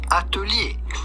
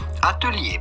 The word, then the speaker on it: Atelier: How would you go about pronouncing this in French originally? Atelier. Atelier, but in English or American, this would be said atelier.